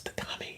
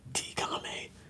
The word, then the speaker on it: Tatame: You know, I had to ask because my name is Tatame and people people be like tame.